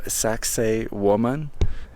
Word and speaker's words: Saqsaywaman: by the name of sax woman if I say it properly uh which yes yes yes it does sound like sexy woman uh but it's a